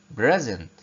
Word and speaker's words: present: present present present present يعني هدية. لاحظ كمان ان ال SE هنا بتتنطق ايه؟ بتتنطق زي حرف الزد. نطقناها ازاي؟ present present. ملاحظين؟